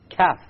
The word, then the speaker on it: ك: So the difference between the Qaf and the Kaf is in precisely where the makhraj occurs. Notice we will do both of them. This is the Qaf, right? And then this is the Kaf, slightly below that, closer to the mouth.